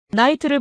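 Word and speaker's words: knight: 나이트를 보세요. K는 묵음이고 GH도 발음이 안 됩니다.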